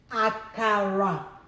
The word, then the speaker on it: akara: Akara. Low, low, low. Akara.